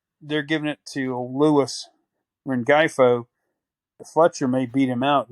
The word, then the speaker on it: Rengifo: I mean, how do you pronounce his name? The shortstop this year, Luis Rengifo? Rengifo.